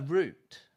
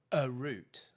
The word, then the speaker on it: root: That's better because you have a tendency to almost add an extra syllable and like go a root like that.